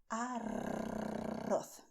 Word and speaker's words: arroz: Okay, so do not roll your tongue backwards. Do not do that because it's not Spanish. Okay, it's English but not Spanish. Spanish, you do arroz.